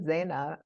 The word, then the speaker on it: Zeina: People have trouble saying Zaina, but because it's not spelled in a way that looks like Zaina, Mhm. Zeina.